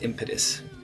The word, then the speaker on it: impetus: Not impedance, impetus. Impotus. Or maybe it's impetus.